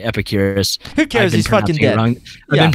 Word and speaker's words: Epicurus: epicur I always forget his name is it Epicurious I thought it was epicurus epicurus or yeah all right epicurus who car I've been pronouncing it wrong the